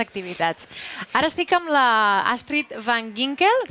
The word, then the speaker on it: Astrid van Ginkel: Ara estic amb la Astrid van Ginkel, pronuncio bé?